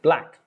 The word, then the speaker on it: black: silent letters yes remember the k in black is actually silent because the c can